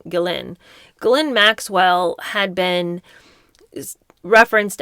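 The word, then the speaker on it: Ghislaine: Gain Maxwell, who I've called her Gain all these years, but apparently you pronounce her name her name Gillin.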